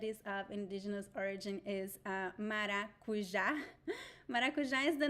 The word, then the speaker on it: maracujá: And pay attention to the pronunciation, maracujá. So we have the j sound, the letter J in Portuguese. It is pronounced in a very particular way. It is different from Spanish and it is different from English. It is j, maracujá. It is not maracujá. Nope. It is not ja.